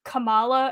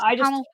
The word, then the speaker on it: Kamala: I'm gonna mispronounce it as Kamala, and I don't mean that in like I'm trying to be rude.